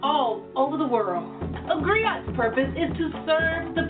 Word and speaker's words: griot: A griot? It's pronounced griot, or in English, a griot.